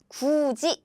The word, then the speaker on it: 굳이: Again, we spell like the first one. However, we pronounce it like 굳이.